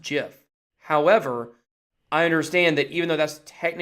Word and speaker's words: GIF: jiff jiff versus gif everybody pretty much says gift but you know technically it's a jiff oh I'm a good guy well court see I know that technically it is pronounced jiff however I understand that even though that's technically